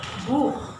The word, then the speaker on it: Buch: So also, the first is pronounced machen, the second koch, and the third Buch. All from the throat.